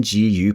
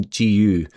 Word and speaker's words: GU: After the race, I told my friend what happened, and she said, "There's a reason GU or Goo rhymes with poo."